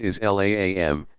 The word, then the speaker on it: Islam: the root meaning of the Arabic word Islam pronounced is laam to the one true